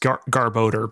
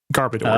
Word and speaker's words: Garbodor: Um, well, it's supposed to be It's garbage odor. So, it's actually meant to be pronounced garboder, but Garbodor is fine.